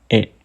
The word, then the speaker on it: へ: Walaupun di sini tulisannya he hiragana, tapi dibacanya itu e. Ingat, bacanya itu e, bukan he.